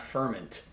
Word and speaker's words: Furmint: It's a dnu from Hungary and a wine called Ferment. It's spelled F U R M I N T. I had to actually look up that pronunciation. It's not ferment, it's ferment.